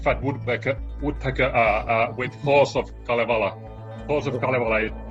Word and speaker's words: Kalevala: But the Halls of, how is that pronounced? Kalevala.